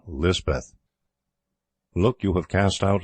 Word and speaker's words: Lispeth: The Cotgarth chaplain christened her Elizabeth, and Lispeth is the hill or Pahari pronunciation.